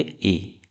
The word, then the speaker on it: へ: पढ़ेंगे हम ए पार्टिकल। ठीक है? ये है हिरणगा का हे पार्टिकल। पर जब हम उसको एज अ पार्टिकल यूज़ करेंगे तब हम उसको क्या पढ़ेंगे? ए।